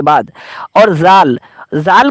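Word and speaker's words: ذ: और जिस पे नुक्ता है उसको हम जाल बोलते हैं।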